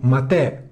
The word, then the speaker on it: MATE: in ogni caso Ubuntu matè con l'accento sulla e è sempre stata la